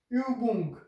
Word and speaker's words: Übung: So it is U, equivalent of U, U, A, and it is pronounced as U. And we have one example here. This word is called Übung.